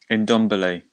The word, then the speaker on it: Ndombele: What is it? Ndombele. Ndombele. That's it.